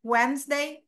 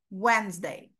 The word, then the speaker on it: Wednesday: day of the week Wednesday no this sound Wednesday Wednesday so the whole article